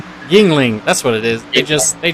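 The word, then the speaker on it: Yuengling: And I'm not even gonna try and pronounce that beer. It's a Youngling. Guess I just said Yingling.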